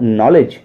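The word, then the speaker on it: knowledge: तो ऐसी स्थिति में मोस्टली हमेशा नहीं मोस्टली के को साइलेंट माना जाता है देखिए स्पेलिंग नैनों के एन आई जीएसटी नाइट और नॉलेज यहां पर सभी में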